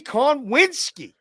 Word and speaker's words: Konwinski: Konwinski. Said it right, but I like to say Konowinski.